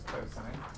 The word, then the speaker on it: cosine: So cosine, abbreviated COS, still pronounce it as cosine, is the ratio adjacent over hypotenuse.